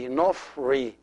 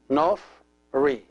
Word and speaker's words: Nofri: So the first one is Nof, the second one is Ri. Together will be Nofri, Nofri, Nofri.